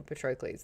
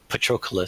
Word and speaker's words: Patroclus: That's not what I pictured at all for Patroclus though.